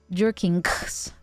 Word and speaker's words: gherkin: It's a hard G. Jerkings. Jerkings. Okay, got you.